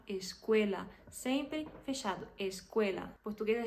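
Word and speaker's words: escuela: para vocês tanta gente tanta gente que fala esquela gente isso é um a mesma coisa da gente ouvir very good em inglês é a mesma coisa tipo esquela não você tem que falar esquela sempre fechado escel português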